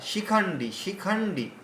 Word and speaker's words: शिखण्डी: শিখণ্ডী বললেই শি দীর্ঘ উচ্চারণ হচ্ছে। রস্য উচ্চারণ হবে, রস্য। না না না না না না শিখণ্ডী শিখণ্ডী।